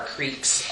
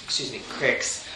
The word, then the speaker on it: creek: Is that how you say it here? Crick, you say crick. You don't say Here? creek, it's Here crick.